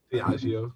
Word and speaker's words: Diageo: has now, of course, done a deal to Diageo. Am I saying that? Am I pronouncing that correctly? Diageo, yeah.